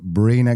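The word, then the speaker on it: Briner: Just if you are going LinkedIn, it's pronounced Bina, but spelled B R I N E R.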